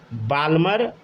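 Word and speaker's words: Balmer: इसी को बोला गया बाल्मर सीरीज, ठीक है। इसको क्या पढ़िएगा, बाल्मर ही पढ़िए, ठीक है ना। इसको पढ़ते हम बामर है, लेकिन बाल्मर ही पढ़िए, ताकि स्पेलिंग में एरर ना हो।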